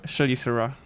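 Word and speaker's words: Chelicera: you greatly how the token is is pronounced. It's a graphine. Graphin Shaliser. Shaliser.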